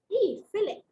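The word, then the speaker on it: fille: Girl in French is filet. F-I-L-L-E, filet. Got it, guys? So la and li का difference इतना ही है.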